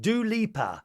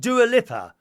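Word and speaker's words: Dua Lipa: lip her lover and it's pronounced do leaper or was it do leaper not do a lip er do a leaper do a leaper why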